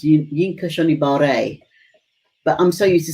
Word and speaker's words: Yinka Shonibare: quite a few times and his name is pronounced you yinka shonibare but i'm so used to saying mean kashonibari don't be surprised if i forget mbe was